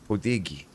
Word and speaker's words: Poddighe: You pronounce it Podeghi. Like, he's Italian, eh?